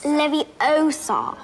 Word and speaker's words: Leviosa: who strives for excellence besides you're saying it wrong it's leviosa not and since harry can